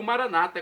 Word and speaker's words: Maranata: para o português Maranata como dizemos nós católicos com a tônica na última sílaba o Maranata é com a tônica na penúltima sílaba como dizem nossos irmãos separados os evangélicos ou protestantes não importa pronúncia o significado é o mesmo vinde senhor Jesus e